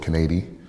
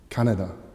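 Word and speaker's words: Kaneda: the main protagonist, Shotaro Kanedi, and he's going to try and find and bring back his childhood friend, Tetsuo Shima. Sorry, it's just pronounced Shotaro Canada and Tetsuo Shima.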